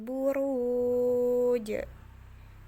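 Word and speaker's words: بروج: Contoh tertulisnya wassama'i dzatil buruj. Itu ru ketemu dengan waw sukun dan terakhirnya itu jim, maka kita akan mewakafkan jimnya itu menjadi mati dan wawunya ini kita dibaca panjang ya, buruj.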